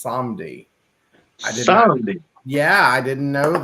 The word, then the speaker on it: Samedi: And she said that we were pronouncing the word Samedi wrong. It's Samdi.